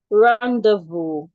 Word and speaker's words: rendezvous: So the first word, rendezvous, Rendezvous, is pronounced rendezvous. You can also pronounce it as rendezvous. I remember yesterday I mentioned that the Americans don't have the O sound. So they say rendezvous or rendezvous.